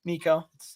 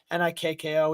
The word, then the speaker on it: Nikko: don't know us uh my name is nick but i go by nico nikko which is a very abnormal way to spell it um and honestly happy